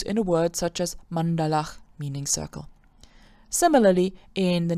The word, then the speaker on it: maṇḍalaḥ: So, for example, if I have the word maṇḍalaḥ, which means circle, in English it's usually pronounced maṇḍala, but let me tell you that's wrong, then I could theoretically